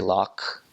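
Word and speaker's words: loch: it for example Lake they don't say Lake they say lock see for like lock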